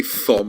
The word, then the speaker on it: Thom: It's pronounced Tom, but I say Thom because then you remember how to spell it, all right?